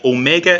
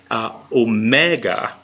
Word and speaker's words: Omega: Meg not oh yeah Omega is the modern pronunciation Omega is the irassman pronunciation which is what we're using Omega Omega all right